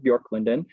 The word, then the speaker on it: Björklund: One pictured here is Björklund. Yes, that's how you pronounce that, Björklund, Swedish for Birch Grove by the lake.